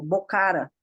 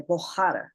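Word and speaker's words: Bukhara: Então, a gente tem mania de falar, por exemplo, Bocara, quando na verdade é Bohara.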